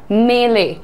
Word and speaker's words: melee: छोटी मोटी झगड़ा, लड़ाई, छोटी मोटी लड़ाई, दैट्स कॉल्ड अ मेले। What is the pronunciation? मेले, मेले, पहला में इज लाइट, सो मेले, मेले, right? That's a melee. Now melee नहीं, मेले, okay?